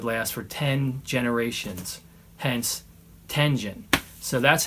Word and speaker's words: Tengen: And yes, Tengen is how I say it. Some people say Tengen, I think. But Tengen, I think, is the proper way to say it because a little piece of history here.